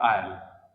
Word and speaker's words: I'll: आई विल को short में ऐसे लिखते हैं और उच्चारण क्या होता है आयल, आयल, ठीक है, आयल बोलने से।